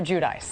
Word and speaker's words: Giudice: last name okay okay so we're all supposed to call you Teresa judice right not Jud Jud I mean that's the Italian way but nobody knows how to say it I mean you know how to say it but you know what I'm Joe and I are fine with saying judies so it's Teresa and Joe judis correct all right we've set